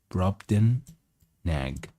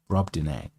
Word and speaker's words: Brobdingnag: There's a G that is silent, so we just say Brobdingnag. Brobdingnag.